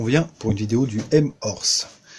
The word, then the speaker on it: M-Horse: pour une vidéo du m or ce alors je prononce à la française on voulait pas moins